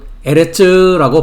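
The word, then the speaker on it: אֶרֶץ: 계속해서 구약성경 히브리어 문법 명사의 성에서 여성명사 히브리어로는 에레츠라고 발음을 합니다.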